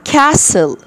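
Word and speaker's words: castle: بينك بينوك بين ستوك الع كاسل كاسل كاسل التي سايلنت كاسل كاسل كاسل كاسل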